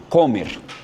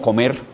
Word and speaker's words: Comer: El autor se llama John Mark Comer. Se escribe el apellido como Comer en español, pero pues para que suene gringo es Comer.